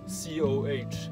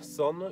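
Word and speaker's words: Сон: This is Son, and the Russian guy, C-O-H, it's pronounced not Co, but Son, apparently.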